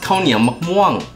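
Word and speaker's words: ข้าวเหนียวมะม่วง: In Thai, it's pronounced Khao Nia Mok Muang.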